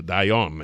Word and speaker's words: Dion: Dion is how he said the pronunciation should be.